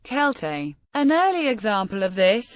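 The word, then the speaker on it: Celtae: time of Julius Caesar when Latin Sela was pronounced kelte an early example of this is a short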